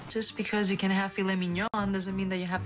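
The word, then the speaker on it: filet mignon: that is filet minion this food is actually two words and the stress is on the second syllable for each word filet Minon now you might be wondering about why is it pronounced this way because of the spelling well this is a French word fet minion it's a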